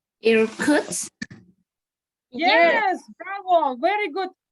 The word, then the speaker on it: Irkutsk: Irkutsk. Irkutsk. Yes, bravo. Very good pronunciation.